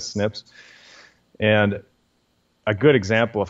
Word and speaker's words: SNPs: scientists just call the snips snps and they just pronounce it as snips and a good example